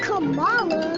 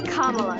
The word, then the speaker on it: Kamala: It's not Kamala. It's not Kamala. It's Kamala.